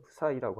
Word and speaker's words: psi: 발음은 푸사이라고 하는데 어 PSI라고 하는 그런 기호인데요.